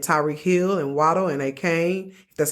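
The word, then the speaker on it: Achane: Tua and and Tyreek Hill and Wadd and a Kane that's how you say his name yeah um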